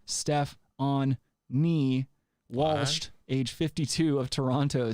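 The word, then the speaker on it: Stefonknee: with the transgender product stephanie pronounced steph on me watched age 52 of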